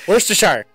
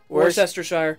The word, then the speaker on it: Worcestershire: How the fuck do you pronounce Worcestershire? Worcestershire. Worcestershire.